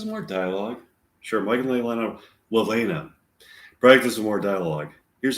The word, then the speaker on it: Leilani: I've been saying Leilani for years now. And I just recently noticed it's actually pronounced Lelena.